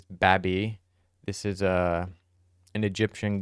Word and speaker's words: Babi: From what I looked up, you pronounce this Babi.